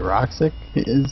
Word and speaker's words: RXK: It's supposed to be Roxic, is what how he wants it pronounced.